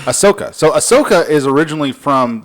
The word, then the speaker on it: Ahsoka: or ashoka how would you say her name ahsoka oh there's no h a h it is a h ahsoka so ahsoka is originally from the animated star